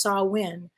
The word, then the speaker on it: Samhain: It's spelled Samhain, but it's pronounced Samhain.